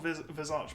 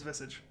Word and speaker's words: Visage: an illusion but yeah so that is supposed to be called vizage but valve have actually said that his name is visage and you say it and you say a message yeah the correct pronunciation of that hero's visage i was looking around because i was confused because i was confused on it and it sucks i i will be corrected and say visage i'll try to at